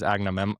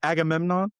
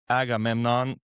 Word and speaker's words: Agamemnon: Um, Benny Safty as Agname. A what's How do you say his name? Agamemnon. Agamemnon.